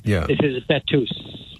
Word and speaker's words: Betws: Well, when you said Betus, because like Jeff said, the W is oo. Ooh. So like school is a double O. Yeah. This is Betus.